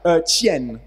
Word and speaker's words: qian: The correct pronunciation is Qian. Qian. Sorry. Qian. Qian. Okay, it's palatalized affricate. Qi. And then it's not a, it's pronounced e in this case, in this kind of syllables, in this kind of endings.